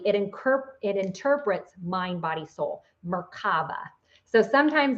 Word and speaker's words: Merkaba: one in the other one, that's where the Merkaba comes in.